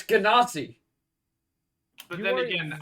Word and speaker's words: Genasi: The official thing Okay, is that but you it's sound Ganassi. no. Hold on. It's a hard G.